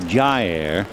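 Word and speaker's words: Jair: ball low ball one his first name is spelled j a i r and you pronounce it Jer and then jurgons j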